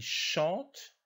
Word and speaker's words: chantent: ne se prononcent pas attention ent ne se prononce pas dans les verbes conjugués ils chantent ils prennent ils veulent